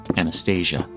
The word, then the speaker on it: Anastasia: Then their four daughters, the Grand Duchesses, Olga, Tatiana, Maria, and their youngest girl, 17-year-old Anastasia, alternatively pronounced as Anastasia.